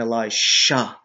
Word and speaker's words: Elisha: I pronounce it clearly so you know they're two different people, Elijah and Elisha. One with a J, one with an S.